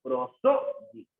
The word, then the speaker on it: prosódico: Ah, profesor, prosódico. Ah, profe, mire, esta palabra tiene 4 sílabas. Claro, ¿cuál es? Pro, ¿no es cierto? Dico, ¿correcto? Prosódico.